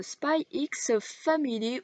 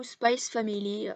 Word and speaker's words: Spy x Family: que j'ai pensé de spy x family ou space family ça dépend comme vous voulez le prononcer evs est franchement j'ai